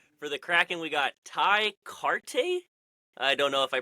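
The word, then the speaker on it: Tye Kartye: Ty Carte. Yeah, no, that's it. That's how you say it.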